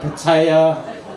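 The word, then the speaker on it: Pattaya: Um and that's another thing saying that saying you know patia because different people pronounce it differently. They call it paya or paya. And um yeah, I get criticized in comments for saying patia.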